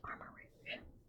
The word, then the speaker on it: Armarouge: I know it says ch, but I feel like that's how you pronounce rouge. So, it's armor rouge.